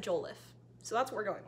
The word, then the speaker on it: Jollof: I did actually look up how to pronounce it, and Google said Jollof, so that's what we're going with.